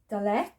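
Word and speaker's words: ד: Then we've done Dalet, which sounds as da.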